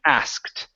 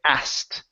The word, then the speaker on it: asked: okay so for example if we really want to pronounce this we need to pronounce the k and the T saying asked okay right so the next way that I teach most people is by skipping over the T this is how most people pronounce the word they say asked okay now the way